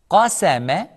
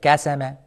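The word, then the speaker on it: قسم: Qasama. Qasama. Qasama. Qasama. Do not change the qaf into kaf like kasama. It is qa. Make sure you pronounce qa heavy. Qa. Qasama. Qasama. Also, do not say ma.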